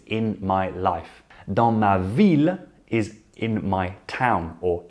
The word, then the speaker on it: ville: Ville, ville. Unlike other words ending in ILLE in French, which sound like I, such as fille, feuille, bille, the LLE are vocalized.